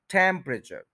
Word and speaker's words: temperature: टेम्परेचर, टेम्परेचर, टेम्परेचर नहीं कहना, यानी कि जो टेम्प है इसको ज्यादा इंपॉर्टेंस देनी है, उसके बाद वाला जो सिलेबल है, उसके बाद वाला जो पार्ट है, उसको थोड़ा सा आपने स्ट्रेस नहीं करना, उसको लूज रखना है।